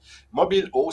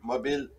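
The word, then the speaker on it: Mobil'eau: Mobilo, ça s'écrit tout d'abord par mobile, M-O-B-I-L, un apostrophe, E-A-U, Mobilo.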